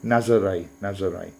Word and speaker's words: Nazaré: I'm saying, let me pronounce that correctly. Nazaré.